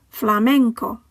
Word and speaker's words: flamenco: The final word ends with a vowel, so the stress falls on the penultimate syllable. Flamenco.